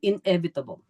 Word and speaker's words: inevitable: Yun ang correct pronunciation, inevitable.